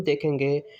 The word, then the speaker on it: the: pronounce किया जाता है फर्स्ट इसके जो प्रोनंसिएशन है वो द होती है और इसको आपने दी भी कुछ लोगों से प्रोनाउंस करते हुए सुना होगा लेकिन बहुत सारे बहुत सारे